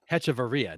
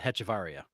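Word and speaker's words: Hechavarria: Maybe I butchered it, but Dany, it's Ady Etchavaria. Hetchavaria, not Hetaria.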